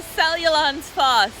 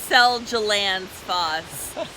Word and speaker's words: Seljalandsfoss: We made it to Seljalandsfoss, and that's how you pronounce it, not like Seljalandsfoss.